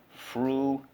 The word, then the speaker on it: frugal: Frugal. Frugal. How do we mark this up? Underline the U. The U can say U at the end of a syllable.